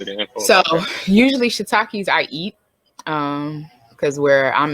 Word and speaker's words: shiitake: personal question, and I was interested in shiitake.